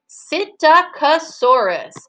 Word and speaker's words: Psittacosaurus: Psittacosaurus.